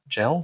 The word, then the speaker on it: Gell: Is that how you say his name? Gell? Yes. Yeah.